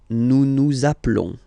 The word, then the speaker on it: appelons: Nous appelons. Okay, final s doesn't exist.